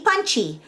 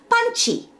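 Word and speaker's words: パンチ: use the sound qi the word punch itself is an english loan word in the japanese language but written in japanese characters becomes punchy so the way it's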